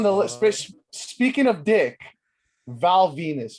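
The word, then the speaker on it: Val Venis: Next on the list, speaking of dick, Val Venus, baby. This guy's name rhymes with penis.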